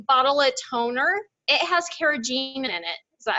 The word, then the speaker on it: carrageenan: It has carrageenan in it. Is that how you pronounce it?